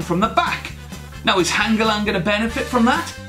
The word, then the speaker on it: Hangeland: Sorry, I pronounced that wrong. It's not Hangeland, it's Hangeland. Hangeland.